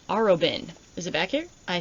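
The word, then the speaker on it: Arobynn: Aroin. Is it back here? I think I said it right. Aroen.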